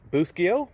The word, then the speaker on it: Boscoyo: This particular star comes from Boscoyo Studios. Properly pronounced Buschio, but who cares?